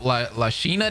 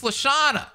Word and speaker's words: LaShawna: I hope LaSheena dies. Oh, hey, why are we getting my girl's name wrong? What is happening? It's LaShawna.